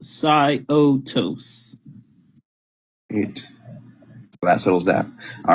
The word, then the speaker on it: Syotos: okay then so it is confirmed it is pronounced sigh otos it blasts holes that all right we have